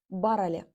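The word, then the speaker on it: бар әле: Кажется, что написание его будет звучать и выглядеть вот так вот, но на самом деле это у нас пишется именно образом бар-эле. Бар-эле, но произнеся быстро, получается барале.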